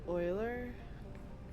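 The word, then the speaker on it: Euler: stream we're going to Oiler cuz that's who you pronounce it that's not eer it's Oiler Oiler I believe it's German oh sweetheart must go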